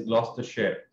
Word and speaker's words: Gloucestershire: So the correct pronunciation is Gloucestershire.